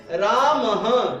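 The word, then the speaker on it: रामः: देखिए जैसे प्रथमा विभक्ति में कैसे है, उच्चारण कैसे करेंगे, राम, विसर्गे साथ में बोलेंगे, अगर विसर्गे नहीं होंगी तो बोलेंगे राम, और विसर्गे हैं तो क्या बोलेंगे, राम।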